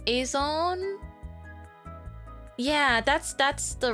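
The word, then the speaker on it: Azone: Do you write it as, is it not pronounced Azon?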